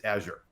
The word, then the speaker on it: Azure: It's built on Azure. See, I just said it wrong. Azure.